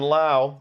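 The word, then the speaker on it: Lowe: always forget is it low or Lao actually they do have it right here the pronunciation rhymes with now LA right Brandon Lao everybody he had 783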